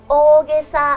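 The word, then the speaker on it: 大袈裟: It's ōgesa in Japanese. ōgesa You need to extend the "o" sound a bit.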